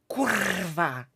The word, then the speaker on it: kurwa: So it's, when you pronounce it correctly, it's like kurwa, Mm-hmm. okay? It sounds very harsh and tough.